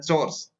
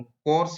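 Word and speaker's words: chores: बहुत सारे लोग सॉरी, इसका उच्चारण जो होता है चोर्स, हाउस होल्ड चोर्स, तो बहुत सारे लोग इसका उच्चारण कोर्स बोलते हैं, जो कि गलत है।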